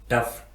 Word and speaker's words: tough: लेकिन कुछ स्पेलिंग ऐसे भी होते हैं जिनमें GH साइलेंट नहीं होता और GH का उच्चारण फा के रूप में किया जाता है, यानी F के रूप में किया जाता है।